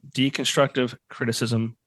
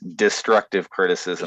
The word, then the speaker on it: Destructive Criticism: Looking forward to the new album, December 2nd, Deconstructive Criticism, available on all the streaming services. No, it's destructive criticism. Did I say deconstructive? I think I said it wrong.